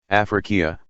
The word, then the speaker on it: Africa: only an accidental consideration as for the word africa or as the arabs pronounce it afrikia which seems to have